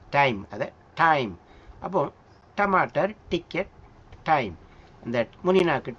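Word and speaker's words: टमाटर: நம்ம சொல்றேன் பாருங்க டமாட்டர். இந்த ட ட டமாட்டர் முன்னிக்கு டமாட்டர் இந்த இது வந்து நம்ம தமிழ்ல உச்சரிக்கிறது கிடையாது.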